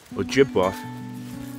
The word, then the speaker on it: Ojibwe: the land of the ojibwe and uh their story is kind of interesting they the white man calls him chippewa and they call him that because the it's actually pronounced ojibwa so the whites are